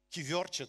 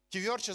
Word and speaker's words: кювьорче: Майка, баба ми го имаше на кивьорче това нещо. Колко знаят, колко това знаят думата кивьорче? Как е? Кювьорче, знаеш ли какво е? Кювьорче. Еми аз съм малко зле с произношението.